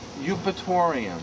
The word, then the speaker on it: Eupatorium: Eupatorium. Spell it.